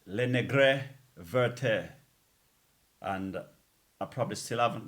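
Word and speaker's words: Les Négresses Vertes: did, and I said, Le Negresses Vertes. Little did I know, all these years I've been saying that the proper pronunciation I understand is Le Negre Verte.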